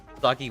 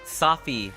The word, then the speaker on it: Safi: Soggy what? Safi, not Soggy.